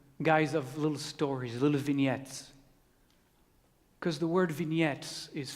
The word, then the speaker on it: vignette: of little stories little vignettes because the word vignettes is French and I just love to using it as often as I can it's actually one of those words that Americans pronounce correctly vignette I was as I